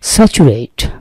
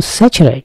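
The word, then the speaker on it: saturate: স্যাচুরেট নাকি স্যাচারাইট, উচ্চারণটা কিন্তু স্যাচারাইট। এই স্যাচারাইট, স্যাচুরেশন।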